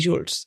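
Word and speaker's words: Joolz: lo emocional, te invito a descubrir más sobre Jules. Se escribe J O o O L Z.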